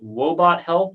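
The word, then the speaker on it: Woebot Health: She is a clinical psychologist and the Chief Clinical Officer of, let me see if I pronounce this right, Wobot Health.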